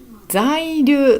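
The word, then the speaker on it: 在留: 在留と読みます、これ。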